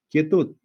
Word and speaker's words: quietud: Pero ya sabemos que el sonido de la U, no digo kie, no digo cue, cuei, ¿no? Se dice kie, el sonido de la U no se pronuncia.